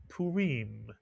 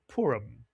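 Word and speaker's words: פורים: The first syllable would be pu mitsuya. The second syllable reim. Put the word together, you get purim. In English, we call it purum.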